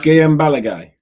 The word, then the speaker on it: Guillaume Balaguer: And, Guillaume Balaguer. Yeah, that's yes. How you pronounce it.